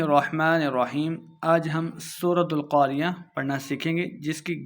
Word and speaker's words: القارعة: کی 11 آیات ہیں۔ القاریہ، قاف کو موٹا پڑھنا ہے، عین کو تلفظ سے پڑھنا ہے اور آخر پہ ہم نے وقف کرنا ہے، ہا کی آواز آئے گی۔ القاریہ، ملقاریہ، قاف کو